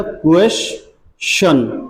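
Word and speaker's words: question: बड़ा शय, ये वाला, ये बड़ा स पढ़ते हैं हम लोग यहाँ, लेकिन इसको बोलते हैं श। क्या प्रोनाउंसिएशन निकलता है इसका? श निकलता है, श, तो श पढ़ना चाहिए।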